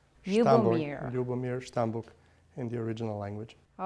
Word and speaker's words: Ljubomir: When I say Stambuk, and it just sounds Stambuk, and how do you pronounce the whole name? I know it's a nickname. It's a wonderful name, actually. It's Ljubomir. Ljubomir Stambuk in the original language.